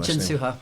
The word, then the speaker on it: Jin-Soo Huh: We have Jins Suha. That am I pronouncing your name? Jin Suha.